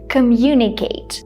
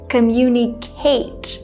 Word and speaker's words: communicate: work on the word communicate because if I'm not mistaken she put the stress on communicate with someone even though generally we say this word as communicate the stress is on the second syllable also when she said